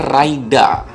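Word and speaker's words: ライダー: Terus nih di bagian visornya ini bacanya Raida, bahasa Jepang atau Rider.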